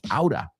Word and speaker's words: out of: Now, out of, acuérdate, lo pronunciamos aura.